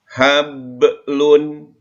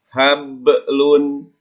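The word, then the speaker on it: حَبْلٌ: Hablun. Ingat, bacanya harus dipantulkan. Hablun, jangan hablun.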